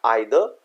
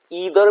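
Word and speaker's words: either: जैसे यहां पर लिखा है आइदर, जिसको हम ईदर भी बोलते हैं। दोनों प्रोनाउंसिएशन हमारी करेक्ट होती है इंग्लिश में, एक अमेरिकन और एक ब्रिटिश होता है। तो आइदर एंड ईदर, तो आइदर वी यूज होके generally in British English and ईदर American में हो जाता है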